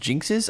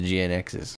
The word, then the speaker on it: GNX: didn't know this, but in English they're pronounced jinxes. I've been reading this thing for like 15 years as GNXs.